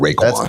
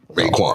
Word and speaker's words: Raekwon: Raekwon. That's what's gonna come on when I go in the car. And it's spelled RAE. Just in case you're looking for RAY. Raekwon.